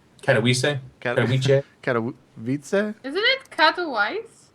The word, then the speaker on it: Katowice: Well, I did stammer, but or not Vice, They- but it's Katowice. they want us to call it the Intel Extreme Masters World Championship, I believe. Okay, but the city that it's in, it's Katowice.